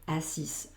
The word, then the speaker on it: assis: Je m'étais assis, aquí sí que esta S se escucha. ¿Por qué? Porque ahora la final va a ser la E. Esta E sin acento no se pronuncia. Entonces, ¿dónde me paro? Sí tengo que escuchar, me paro en la S, con lo cual hago ese sonido S, assis.